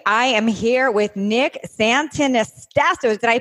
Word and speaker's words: Santonastasso: Today, I am here with Nick Santonastasso. Did I pronounce that right, Nick?